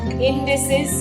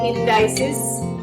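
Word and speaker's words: indices: इंडसेस और इंडसेस both pronunciation are correct.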